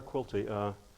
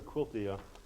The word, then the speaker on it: Quilty: And Claire Quilty is spelled like this. So the double hard K sound, I think, is another mirror image.